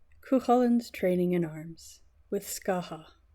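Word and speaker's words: Scáthach: The wooing of Emer also pronounced Evore and Kuhalland's training in arms with Scaha also pronounced Scarthok translation by Kuno Mayor.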